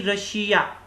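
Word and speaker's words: Russia: ऐसे ही रशिया, double S के बाद IA आ रहा है, ठीक है। डबल S के बाद IA आ रहा है तो इसको हम श का रूप देंगे।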